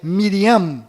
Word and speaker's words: Miriam: sofreram mudanças foram Maria, que na verdade é Miriam, com M mudo no final, Rei Davi, que